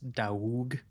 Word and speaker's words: Doug: for me okay pronounced da get it right da the g is silent D do D yeah we don't have the G sound in my language so it's like maybe